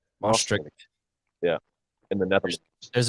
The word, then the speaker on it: Maastricht: So on January 21st, I'm going to pronounce this wrong, but Maastricht. Maastricht.